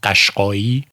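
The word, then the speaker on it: Qashqai: that sure, but the first one which is pronounced Kashki, they were the cavalry regimen.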